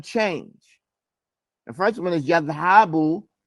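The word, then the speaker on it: يذهب: The first one is yadhabu from yaf'alu with a fatha ala ayn al kalima. There's a fatha on the middle of the word.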